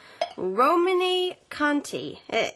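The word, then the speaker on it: Romanée-Conti: Romane Conti. Is my pronunciation correct?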